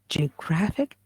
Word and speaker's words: geographic: like in here okay in here it is stressed graph is stressed same case for words